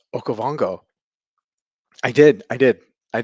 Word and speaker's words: Okavango: level you know um did bobby just correctly pronounce okavango i did i did i did i still